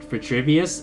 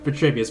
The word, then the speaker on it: Vitruvius: Vitruvius. I think I said it wrong. Vitruvius.